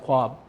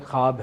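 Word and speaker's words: ख़्वाब: ऐसे लफज़ हैं जिसमें वाओ मजहूल है साइलेंट है लेकिन आप उसे अदा करते हैं ख्वाब ख्वाब नहीं है ख्वाब है ख्वाहिश नहीं है ख्वाहिश है ख्वाजा नहीं है ख्वाजा है ठीक है ना और ये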